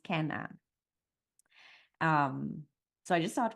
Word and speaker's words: Kene-Anne: the baby Ken an so it looks like Kenny an but it's pronounced Ken an um so I just start with that I